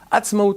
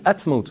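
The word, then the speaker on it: עצמאות: L'indépendance en hébreu, vous savez que ça se prononce Atzmaut, ça se dit Atzmaut.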